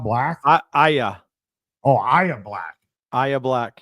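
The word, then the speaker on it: Yahya: How do you pronounce his name? Yaha Black? Aya.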